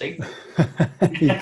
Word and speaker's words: Ethan: So I'm going to hand over the controls to you, Nathan. And cool. I'll call you Nathan. It's Ethan. You're close. That's near enough. It rhymes with Ethan.